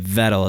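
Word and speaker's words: Vettel: where I got it wrong uhuh yeah but vettle is he pronounces it yeah so yeah but yeah I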